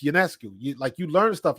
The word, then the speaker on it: Ionescu: Nope, it's UNESCO.